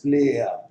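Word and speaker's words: player: For example आप इनको देखिए, जैसे कि प्लेयर, ये फोनेटिक प्रोनाउंसिएशन है and this is being pronounced as प्लेयर, नॉट यर।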